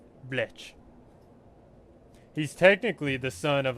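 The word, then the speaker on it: Blech: His name is Bletch Loafing Pest.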